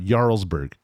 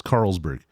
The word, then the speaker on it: Carlsberg: They now have one of Carlsberg, or as I've heard, Jarlsberg. Is that how you pronounce this? That's what I understood, but now that I don't know. I've heard the name that way, but it's Carlsberg.